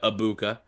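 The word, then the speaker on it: Egbuka: do think a mecha Ibuka which you know little programming note it is IA right all right the G is silent um so it is a mecha I abuka okay Um, so I can't deny that there's talent there.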